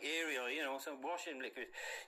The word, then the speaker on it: Ariel: why God Called It Ariel uh modern people pronounce it as Ariel sounds like a washing powder you know it's still